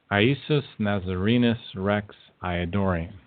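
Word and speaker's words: Iesus Nazarenus Rex Iudaeorum: Well, it was never pronounced that way. It was always Iesus Nazarenus Rex Iadorium.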